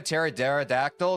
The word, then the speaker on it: pterodactyl: Why can't you a pterodactyl go to the bathroom? Yo, mom call, I don't want to take your thunder, but I think it's because the P is silent, no?